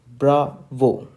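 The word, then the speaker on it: Bravo: I'm unlining this so how do we speak the word b we speak the letter B like bra vo okay let's try again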